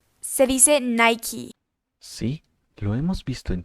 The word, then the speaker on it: Nike: No se dice Nike, se dice Nike.